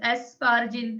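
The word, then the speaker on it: Asparagine: यस एस्पार्जिन था। मैंने कहा था लास्ट में एन आता है। हाँ एस्पार्जिन नहीं, लास्ट में एन से उसका प्रोनाउंस एंड होता है एस्पार्जिन।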